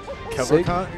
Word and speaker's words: Kevorkian: Kevorkian.